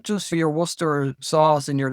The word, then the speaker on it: Worcester: But the thing is, it's not just for your Worcester sauce and your Leicester.